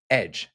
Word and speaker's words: ecg: this word pronounced edge and the word that becomes our word edge.